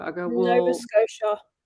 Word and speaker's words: Nova Scotia: I go, "Well, Nova Scotia. Nova Scotia," because they say that the T is a silent, isn't it, Ellie?